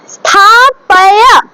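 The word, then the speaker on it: स्थापय: তারপর স্থাপয়া, পয় বলবো না, স্থাপয়া, ঠিক আছে, স্থাপয়া, ঠিক আছে।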